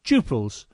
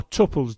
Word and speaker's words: tuple: in this case of duples or tuples depending on how you decide to pronounce the word of course this particular